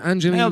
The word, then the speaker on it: Angeline: £25 from Angeline Rhymes with Green.